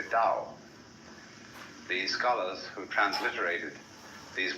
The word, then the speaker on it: Tao: The way of the Dao that is spelled in English Tao but by Mandarin speakers pronounced approximately Dao.